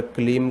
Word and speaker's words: क्लीं: ऐसा नहीं है कि आप 2 बीज मंत्र तो एम, जैसे कि एम ह्रीम पढ़ रहे हो और क्लीम को क्लिंग पढ़ रहे हो, ऐसा नहीं। या तो आप एम ह्रीम क्लीम पढ़ोगे या तो आप एंग ह्रीं क्लिंग पढ़ोगे, ठीक है।